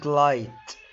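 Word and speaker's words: light: الجي اتش تكتب ولا تنطق في منتصف ونهاية الكلمة، زي كلمة لايت، نايت، مايت.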